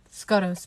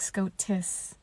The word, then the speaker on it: Scotus: Scotus, Princess Analia interrupted. Oh, look at me like an idiot. It's pronounced like Scotis.